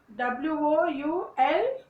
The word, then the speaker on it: would: And would, WOULD, would. There is no L sound in these words. So this sound is silent, where the L sound is silent over there.